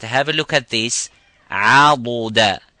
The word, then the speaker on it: عضدا: Now, most of the people would think that dad and dal here are the same by saying عَدُدَ. This is in Surah Al-Kahf. وما كنت متخذ المضلين عضدا, and not عددا.